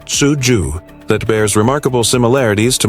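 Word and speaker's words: cuju: During the Han Dynasty, 206 BCE, 220 CE, Chinese troops played a game called Kuju, pronounced Tsuju, that bears remarkable similarities to modern football.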